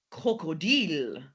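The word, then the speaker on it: Krokodil: ever so slightly different we're not going to quite have our a sound but we still have to be very deliberate very clear about how we pronounce it d d crocodil crocodile more elegant crocodil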